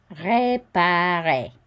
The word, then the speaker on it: réparer: Réparer. And we don't pronounce the final R.